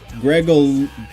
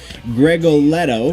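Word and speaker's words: Gregoletto: much on fill side with them how Paulo Greg oh I'm so sorry I've been saying his name wrong I know it Greg Oh Leto greg Leto from Trivium the bass player from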